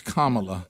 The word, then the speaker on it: Kamala: no that's right how to say it it's kamala yeah yeah once i heard someone said you